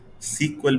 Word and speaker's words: SQL: stands for structured query language कहीं कहीं इसको सीक्वल भी प्रोनाउंस किया जाता है जैसे कि यहां पर